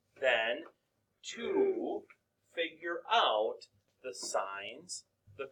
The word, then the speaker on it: sine: The sine of t, and this is where it gets into play here now. Okay? It's not sin. Okay? Still pronounced sine.